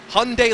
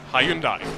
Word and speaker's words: Hyundai: What the U.S. branch of this Korean manufacturer will tell you is it's Hyundai like Sunday. That's how I would say it. A lot, but that's the thing. In other parts of the world, it's Hyundai or Hyundai. Hyundai. So yes. And I imagine if you're in Korea, it's like Hyundai.